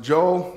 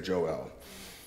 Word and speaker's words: Joel: Some pronounce it Joel. I like to say Joel. El being the name of God.